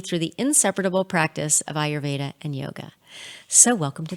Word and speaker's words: Ayurveda: is our Veda so are you ADA it's pronounced Ayurveda and the root that word Eyre a why